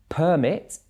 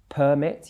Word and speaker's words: permit: disagreement there and the last example is permit permit used as a noun and permit permit and